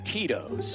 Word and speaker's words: Tito's: It rhymes with Mitos. And Jurko's first response was Cheetos. And he was trying to say Tito's.